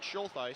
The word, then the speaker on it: Schultheis: 44, Mark Schultheis, ready to check in. First time we've heard from him tonight. I'm guessing on that pronunciation, Mark Schultheis. That's correct. Okay, during the next break